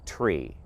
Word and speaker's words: tree: clarity over the radio nine is pronounced niner five should sound like five and three is articulated as tree altitudes ceiling heights and